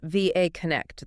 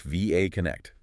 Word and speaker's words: VA Connect: VA Connect, and that's pronounced VA Connect, the letters. Correct. VA Connect.